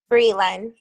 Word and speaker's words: Breland: I have not seen you say it Brylan, right? Breland. Breland. Okay. Yes. I got to say it right. I always tell people it's Brie like the cheese, and then everyone remembers it that way.